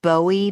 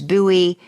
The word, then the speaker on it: Bowie: and it's talking about I like to call it Bowie Maryland but Ted keeps telling me it's buoy Buoy Maryland how is it